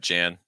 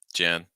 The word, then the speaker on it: Jan: be pronounced as Jacob here we have Jan Jan um people see that because when people see that Jay they're just going to think of just sound um people not paying